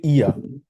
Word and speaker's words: er: Er, ভাইয়া এটা উচ্চারণটা একটু এটা হবে ইয়া।